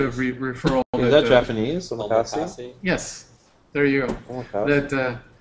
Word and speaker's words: Omakase: Omakase?